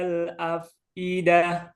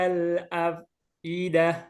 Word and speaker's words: الأفئدة: Hanya saja tadi ainnya itu ada dua. Nya itu ain bukan hamzah. Dibedakan. Kasih dikit gitu. Biar beda sama hamzah. Oke, tafadhol. التي تطلع على الأفئدة.